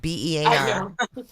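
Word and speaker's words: Bexar: Bear County. I guess the X is silent. Oh, why put the X there then? Just put B E A R.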